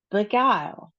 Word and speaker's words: beguile: The next one is just two syllables and we realize we have a short I sound, so bi and then we have a long I sound, guile.